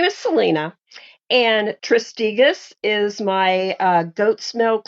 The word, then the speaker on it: Tristegus: i hope i say this right um uh turisticus is that how you say it very very good um i pronounce it tristigas but a lot of people say it the